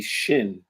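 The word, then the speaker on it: שׁין: Shin or sin, depending on where the dagesh is. If the dagesh is on the right stem, shin. If the dagesh is on the left stem, sin or seen.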